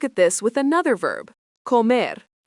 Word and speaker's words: comer: Let's look at this with another verb, comer, pronounced co-mer, means to eat.